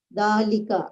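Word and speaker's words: ذٰلِكَ: that is a mosque is pronounced dalika but it is written without alif the word wow is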